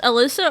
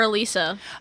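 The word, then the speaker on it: Allysa: didn't finish your thought is that her name pronounced Alyssa or Elisa okay that was I don't know because I called her Alyssa while reading it ends with us but in the audio it's pronounced Elisa how's it spelled I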